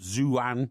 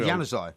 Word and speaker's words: Januzaj: unless you take the young boy up front, Zouane, is it? Zouane? Is it Zouane? The 18-year-old? You mean Januzaj?